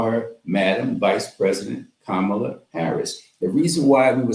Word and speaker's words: Kamala: who mispronounce her name her name is not Kamala and it's very easy to remember just remember the punctuation Kama Kama love that's why I call her Madam vice president kamla Harris the reason why